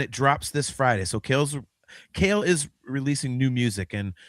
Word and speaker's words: Cael: So Kale is releasing new music. And for any of our audio viewers, Kale McLeish is spelled Cael.